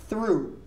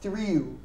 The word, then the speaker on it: threw: So we're going to pronounce it as threw, not threw.